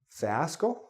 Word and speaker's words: fiasco: Now this, you're thinking, fiasco? Fiasco? No, it's fiasco. Again, the E. Fi-as-co. 3 syllables. Fiasco.